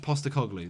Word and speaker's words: Postecoglou: Ange Postecoglou. There you go. I knew it, but I just got the surname and first name mixed up. With Postecoglou, the way he played at Celtic, it's very